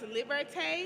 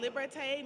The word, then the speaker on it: liberté: So this next piece that we're about to perform is pronounced liberté. It's called liberté, means for freedom.